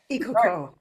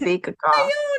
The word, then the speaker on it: Ikuko: Ikuko, that's how you pronounce Wow. it? Ikuko. Okay. Ikuko. Ohayo Morning. gozaimasu. Good morning. My name is Ikuko.